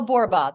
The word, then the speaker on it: Borba: Well, my name's Michelle Borba. The most important thing you need to know is I'm a 1L Michelle, and Borba rhymes with Zorba.